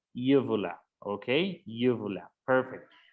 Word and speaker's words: uvula: So this is called uvula. Okay, uvula. Perfect. Miren que se escribe igual que en español, pero la pronunciación cambia. So we say uvula.